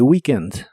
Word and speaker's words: weekend: en fin de semana la doble e de weekend se pronuncia como una I larga o doble on the weekend on the weekend y